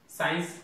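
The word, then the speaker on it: science: जेते बेले अपन देखिबे सी पूर्व जदि एस थिबो, सी पूर्व अपन त देखन कि सी पूर्व कोन अछि एस अछि, त एस थिबो ताले सिंति साइंस सी पूर्व रे एस अछि, सीन सी पूर्व रे एस अछि, सीजर सी पूर्व मध्ये एस रहिछि।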